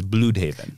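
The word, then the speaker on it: Blüdhaven: run where it introduces bloodhaven or as the debate uh is bloodhaven bloodhaven um uh mr dan jurgens claims it is bluehaven uh well per the german pronunciation it should be bloodhoven so but um but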